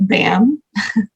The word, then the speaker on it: BACM: Management but for short we call it bam is silent so you'll see a tab that says b-a-c-m and it's going to